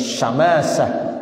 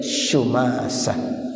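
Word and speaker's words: شماسة: Shumasah bidomisyin wa fathiyah, boleh bacanya Syamasah, boleh bacanya Shumasah. Qala, beliau berkata, hadarana Amr bin Al-As, datang kepada kami siapa?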